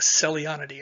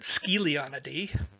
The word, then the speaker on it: Scelionidae: Just in the family that we work on, the Celionidae, it's spelled S-C-E-L. So let's see. My Australian buddies pronounce it Scelionidae. I pronounce it Celionidae. My Italian friend pronounced it Scelionidae.